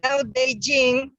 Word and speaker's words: Tao Te Ching: Dao De Jing, well, that's the way the Chinese pronounce it, but it's written like Tao Te Ching or King, or depending on how it was spelled.